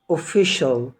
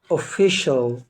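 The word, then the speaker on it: official: بتاعنا مقطع مهم جدا وقلنا ما بينطقش السي لوحدها طبعا السي اي والسي اي اي والسي اي او مع بعض بتنطق شين يا رب يكون الفيديو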